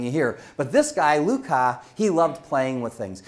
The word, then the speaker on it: Lucas: And sometimes people mispronounce it Lucas, but it's Lucas.